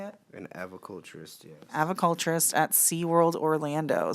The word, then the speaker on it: aviculturist: An aviculturist, yes.